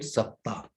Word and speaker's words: Saptah: In Sanskrit, it is said Saptah. It is week. Saptah in English, it is, if I spell it in this way, SAPTA. Saptah, SAPTA. And those who make this caption or these denominations, they added one alphabet also, H. That means SAPTAH.